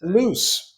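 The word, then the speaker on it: Luce: Is it pronounced Luch or Luc? Loose. Loose. Loose.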